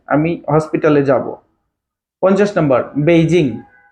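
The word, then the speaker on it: Beijing: হসপিটালে যাব 50 number বেইজিং পি মানে বিই আই জে আই এনজি বেইজিং এ উচ্চারণ পেইজিং পেজিং বেইজিং বেইজিংটা পেইজিং এটার মানে উচ্চারণ পেইজিং এইটা হচ্ছে চীনের রাজধানী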